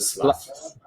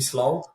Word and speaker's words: Slav: It's the Just don't make me slow. You know, if United States folks sometimes make me slow, they they they they spell it slow and don't make me slave.